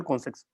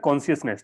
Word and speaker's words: consciousness: Growth of the national कॉन्सेक्स, क्या बोलते हैं इसको, प्रोनाउंसिएशन क्या करते हैं भाई इसको, तो इसको बोलता है कॉन्शियसनेस। ठीक है, तो rise and growth of national कॉन्शियसनेस।